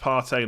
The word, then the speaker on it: Partey: It's pronounced Partey, not Party.